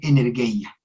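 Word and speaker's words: ἐνέργεια: transforma desde dentro que se dice energia se escribe como energía pero se lee energia se utiliza muy poco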